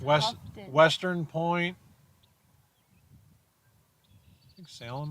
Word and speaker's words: Houghton: It's Houghton.